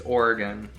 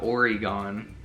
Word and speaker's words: Oregon: You're saying it wrong. It's Oregon, not Oregon.